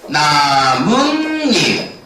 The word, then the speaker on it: 나뭇잎: 나무 플러스 잎. 얘 모음으로 시작하지? 자, 발음이 어떻게 되겠어? 나뭇잎. 보여요? 그러면 무슨 소리가 났지? 여기는 니은 소리가 나고 여기도 뭐가 났죠? 니은 소리가 났지.